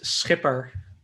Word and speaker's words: Schipper: your last name uh my last name is skipper yeah i'm not going to try it it's basically the english word skipper right but with a little